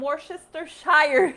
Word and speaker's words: Worcestershire: So I will need some Worcestershire sauce.